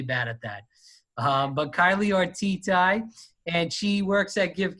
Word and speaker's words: Ortity: Ortity. Ortity. All right. Sorry. Thanks for being flexible. I'm not the name guy. I'm really bad at that. But Kylie Ortity, and she works at Give Kids the World,